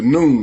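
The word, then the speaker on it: Nun: noon n n the noon it's pronounced just like noon time and it's a reason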